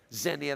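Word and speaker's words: xenia: of you have heard Zenia x n i a Zenia that's more of a Latin pronunciation of it Zenia means I mean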